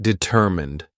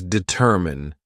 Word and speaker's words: determine: Somebody pronounced determined. It does not deter mine, it does determine. Mine is mine, but remember that unaccented word fully. It's not pronounced. So the pronunciation is determined, determine. Please pronounce determine, not determined.